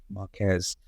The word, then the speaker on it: Marques: Just to close off the sort of Marques, I think I was pronouncing his name wrong. Heard Ben correct me. Marques Brownlee, yeah. Marques.